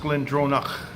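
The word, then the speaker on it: Glendronach: the Glen drone ik i believe it's pronounced glen drona from what I was I saw a guy from Scotland on YouTube talking about it that's your first foray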